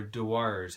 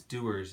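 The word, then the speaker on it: Dewar's: then in 1923 uh doers or dawars however you pronounce it i believe it's doers is the correct pronunciation uh doers uh picked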